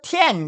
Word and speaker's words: 天: 근데 이 중화인민공화국 애들은 보니까 이걸 천 그러더라고. 이 탱을. 그러면 천을 티엔 그래.